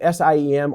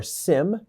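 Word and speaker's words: SIEM: Uh this is pronounced SIM or SIM and then UBA.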